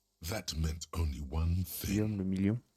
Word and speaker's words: Guillaume le Million: Guillaume le million. Guillaume la Million. If it doesn't rhyme, you're not pronouncing it right.